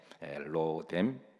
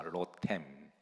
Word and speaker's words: 로뎀: 일왕 기상 19장 4절에 보시면 여기에 중반 절에 로뎀 나무라고 하는 말이 나와 자 여러분 로뎀 어